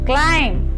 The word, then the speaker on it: climb: The letter B is silent in the final MB. Comb. Thumb. Tom. Climb. Bomb.